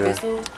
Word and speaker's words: Bissell: It's a cheap Bissell. Is that how you say it? Yeah. Bissell.